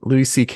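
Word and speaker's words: Louis C.K.: it's pronounced ck is that really how it's pronounced the whole thing that's why he calls himself that's all right louis ck is an american comedian writer director editor and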